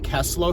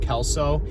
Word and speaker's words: Kelso: I've been pronouncing them Keslo shrugs, and then I had a couple people on TikTok let me know that they're pronounced Kelso, so I apologize for